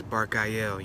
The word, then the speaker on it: Barachiel: Today we're talking about my experience working with Archangel Barachiel. Alright, there's many different pronunciations of Barachiel, right? One of the pronunciations he gave me is Barchiel, you know what I'm saying?